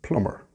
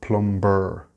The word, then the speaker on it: plumber: The next word is also really easy to pronounce, plumber. It's very simple, the B is silent. It's not plumber.